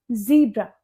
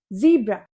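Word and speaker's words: zebra: इसे हम बोलते हैं जिब्रा। जिब्रा।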